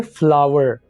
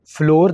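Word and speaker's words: flour: इसको हम फ्लावर बोलेंगे, फ्लोर नहीं बोलेंगे, ठीक है।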